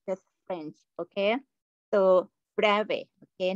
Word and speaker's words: Bravais: french physicist named um the reason we don't pronounce is here because it's it's it's just french okay so brave okay not brevis okay point space is the set consisting of